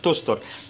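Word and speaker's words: Töchter: حرف الاو لما بيجي بعد منه تسي ها بيتنطق خ يبقى تختر، لكن لما الاو بيبقى عليه املاوت بتتنطق شين فبتبقى تشتر.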